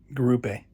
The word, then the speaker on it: Garupe: in my review, but I definitely mispronounced it because it's something like Lipe, something guape. So it's like Portuguese, and I definitely pronounced it in a different way. Garupe. His name is Garupe.